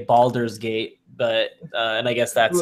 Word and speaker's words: Baldur's Gate: engine like Neverwinter Nights I appreciate that you pronounced it correctly because I hear a lot of people say boulders gate oh it's like yeah that's obviously an a is yeah not folder not boulder gate not big rock gate yeah I've